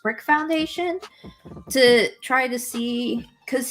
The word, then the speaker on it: BRIQ Foundation: It's like BRIQ Foundation, but it's pronounced Brick Foundation, to try to see,